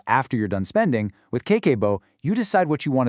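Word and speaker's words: 家計簿: So, Kakeibo, it's pronounced Kakeibo, literally translates to household financial ledger.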